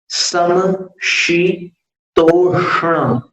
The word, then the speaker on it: समशीतोष्ण: और शीतोष्ण में जीभ को निचली दंत पंक्ति के नीचे लाना, ऐसे पीछे की तरफ, शी। तब ये जीभ में ऐसा ट्विस्ट आएगा, ऐसा मोड़ आएगा कि आप श का उच्चारण करें, शी। और फिर तोष्ण, वहां पर जो श है उसके लिए आपको जीभ ऊपर वाले दांत के पीछे ले जाना। सम शी तोष्ण, ऊपर वाले दांत के पीछे ले जाना, तो वो षटकोण वाले श का उच्चारण होगा।